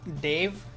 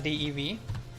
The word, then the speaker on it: Dave: Your name is Dave, so it's not Dave. It's still spelled as DEV, but the pronunciation is not Dev. It's Dave.